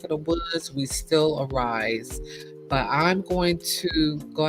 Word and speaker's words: Ari'ze: It's spelled AR'Ze, but it's pronounced Arise as in arise, from the Maya Angelou,